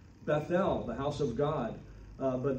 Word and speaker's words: Bethel: might say in hebrew bet l they pronounce the th as a t bethel the house of god